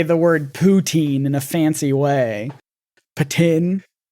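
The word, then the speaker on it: poutine: is originally from Quebec and it's French and ptin is how you pronounce it in French okay well for anyone else he's saying the the Canadian is trying so hard to say the word ptin in a fancy way ptin I've never heard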